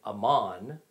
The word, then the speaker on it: Amman: and by the way amman the capital of jordan is just the arabic pronunciation of the ancient territory of amon which the kingdom of